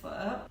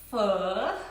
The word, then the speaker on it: Pho: Authentic Vietnamese f. It's actually pronounced fu. You have to twist your voice like a wave.